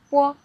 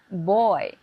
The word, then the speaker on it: bo: When you pronounce boy and feel your vocal cord again, boy, boy, you can feel a strong vibrating, right? If you pronounce Chinese bo, there is not vibrating here.